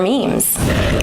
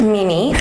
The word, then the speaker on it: meme: their logo on their memes. Awesome. What's a meme? It's not pronounced Mimi.